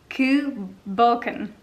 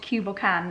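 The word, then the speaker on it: Cù Bòcan: online with the correct pronunciation of ku balkam ku balkan is the correct pronunciation not cuba can as i have just been calling it i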